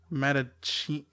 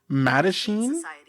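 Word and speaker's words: Mattachine: Yeah, how do you pronounce it? Okay, T's. Matachina?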